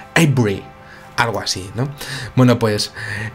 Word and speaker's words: Avebury: La verdad es que Avebury sí que sé pronunciarlo, que sería Avebury. Es que claro, como estaba allí, pues se me ha pegado un poco. Y tampoco lo digo muy bien, porque allí los ingleses dicen como Avebury, algo así, ¿no?